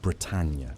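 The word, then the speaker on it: Bretagne: It's the story of a dog named Britannia, pronounced like Brittany, a golden retriever trained for search and rescue work, partnered with her handler, Denise Corliss, a volunteer firefighter in Texas.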